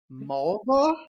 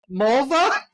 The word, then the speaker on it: Mulva: my name do you mulva mulva all right he said it REM rhymes with a female body yeah that's oh God